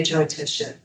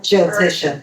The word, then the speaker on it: Jyotisha: our perspective of today Jyotisha. And uh Jyotisha is also called Vedic astrology. Is that that J N Y O? Jyotisha. Jyotish. Like Jyoti. Jyoti means light.